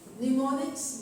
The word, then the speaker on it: mnemonics: Use mnemonics, mind maps and flow charts. So the M over there is silent.